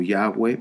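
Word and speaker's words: Yahweh: a a el nombre tú pronuncias el nombre como yahwe okay Si tú dices Jehová está bien si tú dices Jehová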